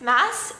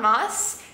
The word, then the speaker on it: Maas: Glass series and yeah apparently it's pronounced Mass not Moss so I'm sorry about